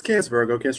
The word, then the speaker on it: CancVirgo: Yeah, it's CancVirgo Astrology.